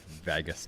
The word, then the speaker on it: vagus: a seance after oh boy I'll stimulate my vagus nerve instead you said it right said it